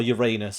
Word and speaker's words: Uranus: Uranus. Or Uranus, I guess, if you want to say it like that.